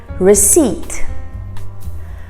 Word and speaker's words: receipt: champagne work number six receipt receipt receipt now the p is actually silent receipt now this next